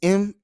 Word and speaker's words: Malik: My name is Malik, Malik. It's Malik, but the pronunciation is Malik.